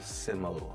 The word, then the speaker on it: SYML: En fait, je vous explique euh moi et ma fille, on adore un chanteur qui s'appelle Sim. Sim, ça s'écrit sym.